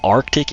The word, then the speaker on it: Arctic: Next upgrade, Arctic Explosion. That's right, there's a C in Arctic, that's why I try to emphasize it so you won't misspell it.